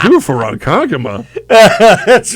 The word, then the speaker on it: Ronkonkoma: I'm like, it's Ronkonkoma. It's better The way it's spelled.